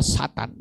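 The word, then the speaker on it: שטן: malaikat yang jatuh makanya ditulis dengan kata syin tet Nun tiga huruf bacanya Satan Saudara bukan I iblis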